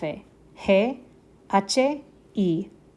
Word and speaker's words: y: But if you see it by itself, it means and. And so it's just pronounced E.